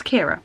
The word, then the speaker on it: Ciara: my name it's ridiculous so it's Kiera by the way I'm